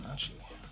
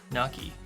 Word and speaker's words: gnocchi: Frozen nachi. Sounds good. I haven't really had much nachi. Ganachi? Ganochi. How do you say that? Am I saying that right? Nachi? Big plans to make fancy breakfast. Gnocchi.